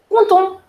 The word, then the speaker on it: content: And as I told you, the last consonant in French we generally do not pronounce. Yes? So that's the reason the first one is pronounced as je suis content.